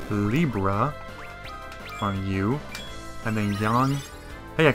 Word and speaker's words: Yang: I always call him Yang because you know it just sounds better to me sorry but I'm used to the more like English like pronunciations because the word yang rhymes with like say Fang you know so that's